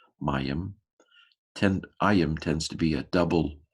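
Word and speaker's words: מים: Mem, patak, yod, hirik, mem, mayim.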